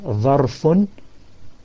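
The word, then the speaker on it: ظرف: Dharf meaning dha, ra, fa. Dharfun. And dha is the one that comes after ta, ta, dha. So you say dharfun.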